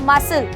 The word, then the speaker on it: muscle: अगर मैं बोलती हूँ MUSCLE, तो यहाँ पे S और C एक साथ आया है मसल, पर यहाँ पर हमने केवल S को प्रोनाउंस किया और C को छोड़ दिया।